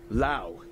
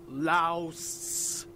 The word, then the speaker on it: Laos: or oh sorry Wow Lao it's pronounced Lao not Laos Wow cool okay okay